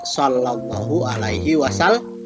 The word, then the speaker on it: Shallallahu Alaihi Wasallam: kita menggunakan qwerty tapi tidak boleh baik dibaca escamilla dibacanya Saito tulisannya boleh dibacanya Sallallahu Alaihi Wasallam Wa Sallam itu empat kitab yang